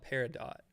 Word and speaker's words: Peridot: It's spelled Peridot, but I want to say the T silently.